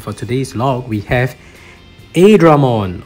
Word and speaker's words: Airdramon: And for today's log, we have Airdramon, or actually the correct pronunciation is Airdramon.